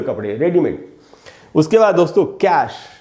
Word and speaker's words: cache: तो इसके दो उच्चारण, इसका मतलब होता है सिले हुए कपड़े, रेडीमेड। उसके बाद दोस्तों कैश, ये वर्ड CACHE, कैश।